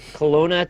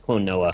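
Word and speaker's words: Klonoa: Today's game was Colona 2 Lunat. Ah, yes. All right. Oh. Oh, I remember that thing. Yeah. Clonoa. I always say it wrong. It's Clonoa. Clonoa.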